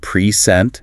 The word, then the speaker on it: present: Think of the word present. Stress the first syllable. P R E scent. And it's a noun, a gift, a treasure. Stress the second present, and it's a verb.